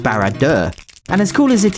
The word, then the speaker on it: Barad-dûr: of the Rings either I believe this is pronounced barad dur and as cool as